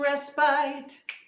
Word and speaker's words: respite: I hope you're all getting some respite. I know that it's pronounced respite, but you know that didn't really rhyme.